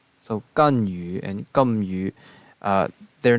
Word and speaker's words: Ganyu: And then we have Ganyu, which in Cantonese is Gamyu, Gamyu. The Japanese is Kangwu, Kangwu, and then the Mandarin is Ganyu, Ganyu.